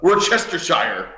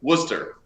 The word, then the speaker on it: Worcester: I forgot was uh we're chestershire which is what everyone says but it's Worcester oh for three God